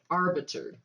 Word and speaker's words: arbiter: took me a minute arbiter that's why i've been saying it wrong it doesn't have a d arbiter okay i don't care